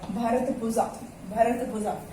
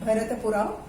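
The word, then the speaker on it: Bharathapuzha: And there is one more river that is called भारतपुजा. इसका pronunciation south में कुछ और होता है, पुड़ा करके, भरतपुड़ा, but spelling is Puja, BHARATHA and PUZA.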